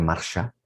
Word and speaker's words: Marta: esta mujer llamada marta marta en arameo que a veces se puede pronunciar marcha pero marta así con una t se escribe significa la jefa significa